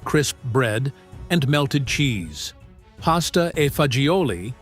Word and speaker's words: pasta e fagioli: Pasta e fagioli, often pronounced pasta fazool in Italian-American neighborhoods, represented survival transformed into comfort.